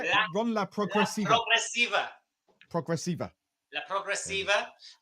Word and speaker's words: Ron La Progresiva: Ron La Progresiva.